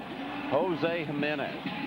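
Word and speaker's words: Jiménez: against the Arizona Diamondback Jos Jimenez JJ or HH J of course pronounced as an H in in espanol Chile Davis the batter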